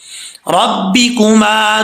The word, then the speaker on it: رَبِّكُمَا: دیکھیں فَبِأَيِّ آلَاءِ رَبِّكُمَا، ربی پڑھنا، ربے نہیں پڑھنا، رَبِّكُمَا تُكَذِّبَانِ۔ اب ہم اس